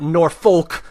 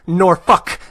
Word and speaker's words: Norfolk: You go out to Virginia, Norfolk, not Norfolk, Norfolk. That's how they pronounce it down there.